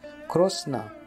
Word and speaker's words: Krishna: the universe addressed as krishna in this part of india the name krishna is pronounced krosna because of different languages